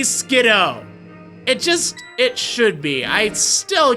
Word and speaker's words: Skiddo: call you kiddo, so let's call this thing Skidoo instead of Skiddo. Oh, I hate that. I'm not gonna lie, like, that's one of the pronunciations that I despise. It just drives me crazy, okay? It should be Skiddo.